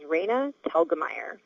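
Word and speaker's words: Raina Telgemeier: Hello, my name is Raina Telgamire. When I was born, it was raining outside and my parents liked the name Raa to begin with.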